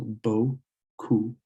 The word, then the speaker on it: beaucoup: When you see the E, A, U together, it's pronounced O, like in go or throw. It's pronounced like that. So you'd add it, or you'd use that sound here, and it would be bo, and then the OU again. So beaucoup. beaucoup.